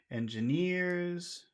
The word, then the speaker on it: engineers: in that word Engineers which which syllable has all of the sound Engineers would near that's right it's near near is the is the word with all the sound okay and also worked